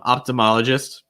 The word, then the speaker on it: ophthalmologist: me this one um ophthalmologist optimologist tricky spelling obviously if you look at it on paper um ophthalmologist i i think that's the most common way that you're going to hear that pronounced ophthalmologist um australia australia this